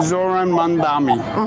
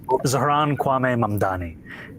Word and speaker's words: Zohran Kwame Mamdani: I'm running against a man named Zohran Mamdani. He's a socialist. If you can respond to that and tell us how you say it, your full name. Zohran Kwame Mamdani.